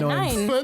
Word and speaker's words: neun: Neun. It's no. He It just is said neun? no. And Neun. he's helped. Is it seriously? Yeah, it's Yeah, neun. 9. That's a dumb way to Wait, pronounce something. I'm it's sorry, just Germany. in Blink 182?